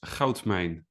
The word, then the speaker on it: Goudmijn: say his last name his last name is hman hman and it means Gold Mine correctly and